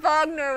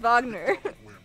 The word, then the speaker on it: Wagner: bye german composer i know vogner was because like it's pronounced wagner oh i don't got this and i i